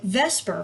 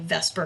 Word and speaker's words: VSEPR: lot of you so vesper first of all vse per which probably should be pronounced the supper but we just say vesper because it sounds better stands for valence shell